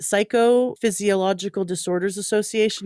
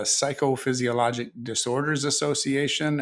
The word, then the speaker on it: Psychophysiologic Disorders Association: We dropped that little AL at the end because it's got way too many syllables as it is. So we call it the Psychophysiologic Disorders Association.